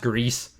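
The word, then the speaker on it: Gris: yeah it's pronounced greece it's pronounced greece i'm pretty sure i know better than you guys who is the streamer here it's pronounced grease the little dude 2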